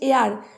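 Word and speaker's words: heir: এয়ার মানে বাতাস আমরা জানি, হেয়ার মানে উত্তরাধিকারী বা এয়ার, এটার উচ্চারণটা হচ্ছে এয়ার।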